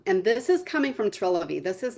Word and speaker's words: Trilivy: I said it right, Trilivy.